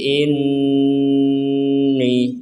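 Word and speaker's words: إِنِّي: Lil malaikati inni. Di sini ada nun bertasdid, kita bacanya mendengung.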